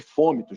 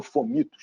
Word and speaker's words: fômitos: SARS-CoV-2 pela superfície, né, o que a gente chama de fômitos, né, ou fomitos, dependendo da pronúncia aí, nenhuma das duas está equivocada.